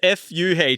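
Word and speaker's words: phở: go that's that's a reason why so so pronunciation it's not fo it's or the pronunciation or the pronunciation it's f it's p h but it's not f h right it's Fu for anyone that that needs to know and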